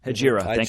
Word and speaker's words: Hejira: yeah so this is uh hajira i think i am pronouncing that right hajira you better get that right i guess yeah it's sajira yep hajira i checked it this week i checked